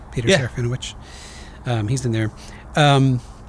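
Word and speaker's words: Serafinowicz: in movies they do later like uh Peter sareno that's how you say his name Peter sarino um he's in there um so there's an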